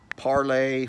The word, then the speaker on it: Parler: So, like I said on the post yesterday, you can download Parlay from the App Store on the Apple devices. It's also available from the Google Play Store. It's spelled P-A-R-L-E-R, and it took a few minutes to download here.